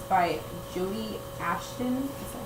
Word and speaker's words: Brodi: know, and it's called Everneath, and it's by Brodi Ashton. Is that how you say it? No, Brodi.